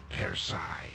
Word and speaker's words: Persei: Zeta Persei. How they pronounce that, not per se.